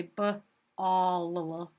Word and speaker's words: ball: Because when we say the word ball, we don't say b-all, we just say ball. That second L is silent.